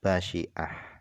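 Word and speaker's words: بَشِعَة: Bifathin fakasrin. Jadi cara baca basyiah ini adalah bifathin dengan dibaca fathah fakasrin kemudian dibaca kasrah basyiah.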